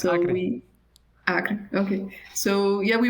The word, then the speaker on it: Acre: Maybe I'm probably mispronouncing, sorry. No, it's correct, so Acre.